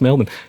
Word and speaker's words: Melbourne: uh Chris Mann of Link audio also in Melbourne Australia uh Chris how you doing did I say that correctly yes Melbourne how you doing man I'm going very well